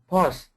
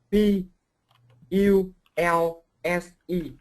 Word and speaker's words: pulse: The first one is um how to pronounce the words pause. Spell it like responsive but only pause. Spell it. P U L S E.